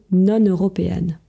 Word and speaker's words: non-européenne: chrétienne mais par contre je dis non européenne donc je pense que c'est pour faciliter la prononciation quand il y a une voyelle on va dire non européenne et quand c'est une consonne on va dire nonchrétienne ces populations non-européennes étaient